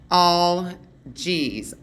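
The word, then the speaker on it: Algiz: Okay, its pronunciation is pronounced all G's, all dash G's.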